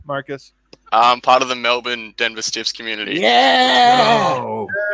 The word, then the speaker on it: Melbourne: So yeah, Melbourne would be how we say it. But like a lot of Americans go with the Melbourne.